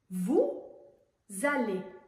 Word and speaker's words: vous allez: On ne prononce pas le S à vous, mais on fait la liaison entre vous et allez. On prononce un Z. Vous allez à vous.